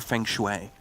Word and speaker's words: feng shui: Yeah, feng shui. Yeah. I was going to say, you don't know what that is? Well, no, you didn't say it wrong, and you just didn't hear it right.